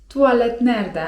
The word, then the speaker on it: tuvalet nerede: Można zapytać: tuvalet nerede? (czyt. tualet nerde) tuvalet nerede?